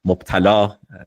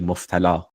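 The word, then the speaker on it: مبتلا: Instead of qufl, he would say qulf, or instead of mubtala, afflicted, he would say muftala.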